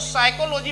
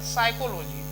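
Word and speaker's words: psychology: P silent रहता है और एस के पहले आए तो भी साइलेंट रहता है। तो एन और एस दोनों से पहले पी आ जाए तो साइलेंट रहेगा। अब जैसे पी के पहले देखिए एस के पहले है तो साउंड नहीं, तो इसको साइकोलॉजी पढ़ा जाएगा। साइकोलॉजी, पी छूट जाएगा।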